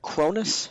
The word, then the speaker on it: Kronos: Am I saying it right? Kronos? Yes, you are.